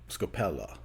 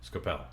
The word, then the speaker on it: Scopel: And how you would pronounce it in Italy, I think, is Scopella. Scopel, yep. Yeah, but you pronounce it that way. You say Scopel.